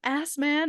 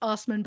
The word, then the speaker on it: Assman: Saskatchewan hear the name ass man and think of Dave Osman it's pronounced Osman but it is spelled ass man uh Dave tried to